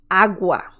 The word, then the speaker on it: agua: examples using these cells agua agua that means water as you can see we have the wah sound agua agua let's see